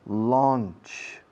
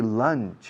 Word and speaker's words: launch: Pronunciation, launch. Sometimes people say lunch.